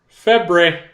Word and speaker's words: Lefebvre: Dave Febre. It's like Favre. It's like Favre, Dave.